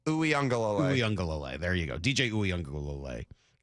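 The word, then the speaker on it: Uiagalelei: How do you pronounce the last name? Uyunglele.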